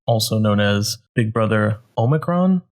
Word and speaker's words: omicron: known as Big Brother omicron my pronouncing that right how it's pronounced yeah that's right like a transformer Decepticon alright so it's been